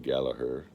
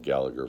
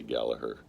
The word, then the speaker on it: Gallagher: Gallagher is his name is supposed to be pronounced Rory Gallaher but being American I brutalize his name and it's I've tried saying gaher it's too hard I I've said Gallagher for so long it sounds wrong when I